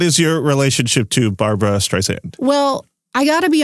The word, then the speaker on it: Streisand: You might have been a little heavy on the second S. It's pronounced Streisand. I feel like this is that scene with Bradley Cooper in that Paul Thomas Anderson movie, Streisand, not Streisand.